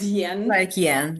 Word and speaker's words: 人: three days realized that they pronounce 人 — rén (people) as 'yen' He was trying to tell me there are too many people in China.